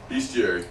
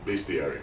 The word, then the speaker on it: Bestiary: Bestiary. Bestiary. Bestiary, because it's spelled best.